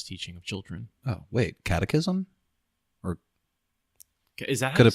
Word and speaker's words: catechism: Catechism is a summary or exposition of doctrine and serves as a learning introduction to the sacraments traditionally used in Christian religious teaching of children. Oh, wait, catechism?